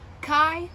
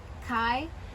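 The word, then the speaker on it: χι: like phi and theta chi is aspirated in some reconstruction reconstructed form so it sounds like the sea and cat cup and then in lucian and modern greek it's more like like helium i guess um so again i go with the helium um but you can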